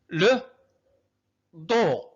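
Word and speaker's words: le dos: لو دو. إذا تذكرتم هنا اس لا تنطق.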